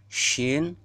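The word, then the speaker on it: ش: Shin, ja, ya.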